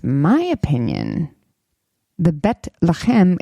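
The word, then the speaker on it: לחם: I know I'm pronouncing Lachem correctly because actually the city Bethlehem, there's two cities Bethlehem.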